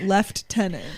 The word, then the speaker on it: lieutenant: a heart it's crazy how British people pronounce Lieutenant left tenant that was the one